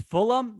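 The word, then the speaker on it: Fulgham: pronounce his name it's fulham the gh is silent i think so it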